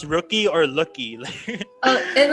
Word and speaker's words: Rookie: Is it pronounced rookie or lucky? And like in Korean, they pronounce it as Lucky, but like if we have to say it in English, it's Rookie.